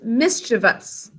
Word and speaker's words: mischievous: that way but it's mischievous we don't want to add an extra e in there it's mischievous switching out